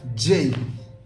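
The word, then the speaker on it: J: এন ডি আই এই India এবার আসছি যেই উচ্চারণ হবে যেই যেমন জুলিয়েট যে জুলিয়েট তাহলে এই লেটারটির নাম হচ্ছে জেই জেই জেই ইউ এল আই ই টি টি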